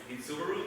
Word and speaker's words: Subaru: in my ready 16th birthday no oh yeah Subaru that's how you pronounce it yeah okay you're American you know